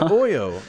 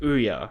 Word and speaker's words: Ouya: This is like worse than the Oyo. I feel like the people behind the Oo gaming console are at least trying something. Just to be fair, you know, it's pronounced Ouya, right?